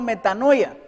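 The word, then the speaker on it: μετάνοια: arrepentimiento en griego quiere decir metal metano o pronunciado metanoia y dice el diccionario que lleva a una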